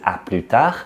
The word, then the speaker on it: à plus tard: So we start pronouncing the S there, but in the full form we don't pronounce the S.